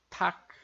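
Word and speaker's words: 닭: Vejam que aqui esse lian, em função do patinho duplo, a gente não vai pronunciar, então a gente vai ler só o som do K aqui seco ali em patinho. Então vai ficar como tak, tak.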